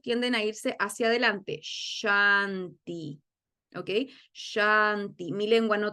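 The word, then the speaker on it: śānti: que entiendan la diferencia la s de shanti que tiene una tilde por sobre su consonante se pronuncia como si estuviera haciendo callar a alguien sh Qué quiere decir esto la lengua no toca ni el paladar de arriba ni el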